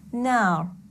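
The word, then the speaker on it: نار: For example, if you have ra with sukoon preceded by a letter carrying the long vowel of fatha, for example, nar. Long vowel of fatha, here I will pronounce the ra with a full mouth.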